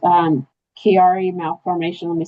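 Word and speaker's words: Chiari: It's um Kiari malf for. Let me spell it for you.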